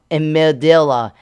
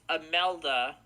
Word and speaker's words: Imelda: The icon has Humberto at 937 millibars, and then it has Imelda, is how I pronounce it, Imelda, at 958 millibars.